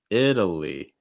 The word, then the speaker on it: Italy: lot happening in it in the lee italy short i sound fast d sound schwa sound and an ending with a long i sound these are all sounds that on their own can be difficult so to put them all into one word can be a challenge italy italy so start